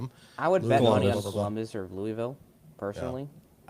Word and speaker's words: Louisville: I would bet or Louisville personally just I mean consider also just so you all know it's not pronounced Louisville but proceed.